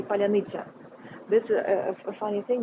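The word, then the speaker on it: паляниця: uh whilst i was asking you to say palanitza this is a funny thing because like uh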